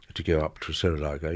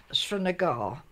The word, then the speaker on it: Srinagar: Srinagar, you didn't stop for a few minutes here and there.